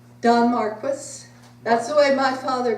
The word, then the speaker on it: Don Marquis: How do you pronounce his name? Don Marquis.